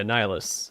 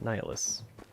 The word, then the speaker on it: Nihilus: level them up yeah nihilus not nightless maniacle maniacal you read